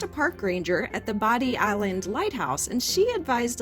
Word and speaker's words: Bodie: it that way, but other people pronounce it Body. So we asked a park ranger at the Body Island Lighthouse, and she advised us that it is pronounced Body.